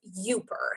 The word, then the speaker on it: Youper: be familiar with is called ubirr so rhymes with super spelled y ou you PE are it's an app you